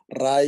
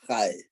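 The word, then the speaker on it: Ray: Also, Mr. Rai is Mr. Hai. Mr. Hai is spelled R-A-Y, but it's pronounced as Mr. Hai.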